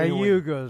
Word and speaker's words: Cayuga: k yuga how are you pronouncing well just pronouncing hey yuga sounds good that sounds good that's right yeah